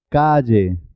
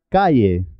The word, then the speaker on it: calle: L, L, calle, lluvia, valle, bella, valla. Muchas personas pronuncian calle como si fuera una I. No es correcto, es Calle, lluvia, valle, bella, vaya.